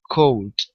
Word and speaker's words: could: All right, and here instead of cool, it's could. So the L is silent. Pronounce the D.